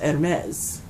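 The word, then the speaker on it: Hermès: it oh and then Hermes when we see this outside of Greek mythology it's pronounced ed mez which in this drawer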